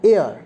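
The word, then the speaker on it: heir: Hour, hour, hour, আ, কথাটা হচ্ছে আ, উচ্চারণটা আ, ভাওয়েলের মতন হচ্ছে, তার জন্য অ্যান বসছে। অ্যান এয়ার, এয়ার মানে উত্তরাধিকারী, আওয়ার মানে ঘন্টা, এয়ার মানে উত্তরাধিকারী, হেয়ার নয় কিন্তু উচ্চারণটা হচ্ছে এয়ার।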